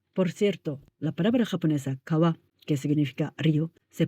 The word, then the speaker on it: kawa: Por cierto, la palabra japonesa kawa, que significa río, se pronuncia así cuando está sola, pero cuando aparece